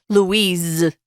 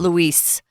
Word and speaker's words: Louise: Notice here her name is Louise, but it has an S on it. We pronounce it with a Z sound, guys. It's Louise. It's not Luis.